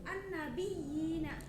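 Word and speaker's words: النبيين: Cara membacanya dengan memantapkan bunyi ya yang bertasydid. Contohnya ada an-nabiyina.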